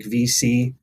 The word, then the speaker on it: VSee: with recording are going to be platforms like VC, and it's spelled VSEE, or Zoom.